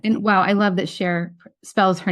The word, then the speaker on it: Shar: And it turns out that this person, her name is pronounced Cher.